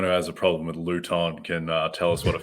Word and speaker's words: Luton: Yeah, but I believe yesterday you were saying Luton. Luton, yes, Luton, chemical. It's more like Luton, as in rhymes with Juice Newton, it's more on the Isaac Newton side of physics than on the plutonium